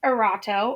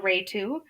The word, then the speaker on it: Erato: The next one is Erato or Aratu. Depends on the area. It can be pronounced either way.